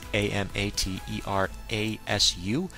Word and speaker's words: Amaterasu: It's Amaterasu, and that's what it appears to be. Everyone's prepped like, oh, it's the Amaretsu.